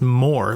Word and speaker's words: Moore: and they said no it's just pronounced more like the opposite of less is more do do it one